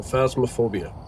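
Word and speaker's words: Phasmophobia: So, Fasmophobia, I think, is how to say the name.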